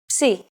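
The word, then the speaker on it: ψι: If you ever forget how to pronounce this letter, just remember, Psi is for Poseidon and his trident. It is handwritten like this. Psi.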